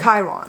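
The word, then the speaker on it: chyron: Chiron. Chiron. I guess it's spelled Kyron. I don't know. I didn't look up the spelling. It's Chiron. It's not sky. It's Chi.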